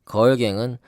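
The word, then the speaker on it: Grrrl Gang: 그래서 아까 보니까는 걸갱은 제가 2위에서 봤는데 걸이 그 소녀 걸이 아니고 그 쓸 때는 GRRRL 이렇게 네. 쓰네요.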